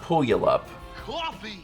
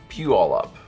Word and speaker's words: Puyallup: It's not Puyallup. It's not pronounced that way because it looks like I'll pull y'all up, but that's not it.